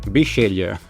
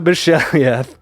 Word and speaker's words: Bisceglie: solo RPG creator and I've just forgotten the pronunciation of your last name that you told me to do. Bishelia. Bishelia.